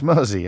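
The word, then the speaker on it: Mersea: pronunciation he writes of Mery island is on a par with your Dad's version of morham it's Mery as in the river mzy cheers thank you David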